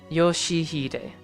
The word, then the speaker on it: Yoshihide: At least that part starting to feel justified on Yoshihide.